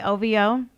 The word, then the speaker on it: OVO: it ov so we we don't pronounce it we just say ovo all right so drake